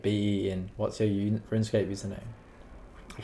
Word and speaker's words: Beinn: Is it Ben or Ben? It's pronounced Ben, bro. Like Ben.